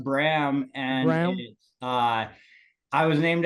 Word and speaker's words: Bram: up becoming a label oh that's great and Braum is that like a uh a Gera name uh it's actually pronounced Bram and uh I was named after Bram Stoker